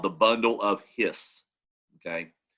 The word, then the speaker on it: His: called the bundle of hiss okay it's spelled h it's not his as in his and her it's actually named the